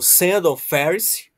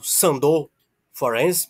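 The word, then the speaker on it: Sándor Ferenczi: Abraham também eh o Sand Feris ou Sand forense mas a gente o conhece pela pronúncia né porque ele é Húngaro Sand Fer Ernest Jones dentre outros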